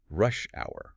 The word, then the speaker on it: rush hour: A word we often use when talking about hectic days is rush hour, right? The stressful commute. Remember that with compound nouns like this, the stress is almost always on the first word.